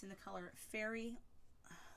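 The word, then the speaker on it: Faerie: it's in the color fairy say fairy cake so yes fairy cake in this it's spelled F a e RIE cake so Michaels had this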